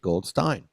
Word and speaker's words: Goldstein: And if you looked at his name, you'd say Goldstein. It's spelled Goldstein. Everybody I know is Goldstein, but he says it Goldstein.